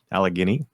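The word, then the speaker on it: Allegheny: Philadelphia, Alagini, Alug Guini, however you pronounce it. I can't pronounce it correctly and everyone makes fun of me. Alagany like Alagany. There you go.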